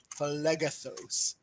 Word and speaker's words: Phlegethos: Phlegethos. Yes, that's how it's pronounced.